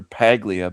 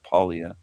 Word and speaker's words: Paglia: This Camille Palia, a a person might call her Paglia, but I think she pronounces it polia. Something like that.